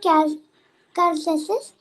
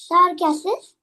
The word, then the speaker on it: carcasses: carcasses. Car. C. Hard C because A is a vowel. Like C Car- becomes hard when there is a A after that. Car.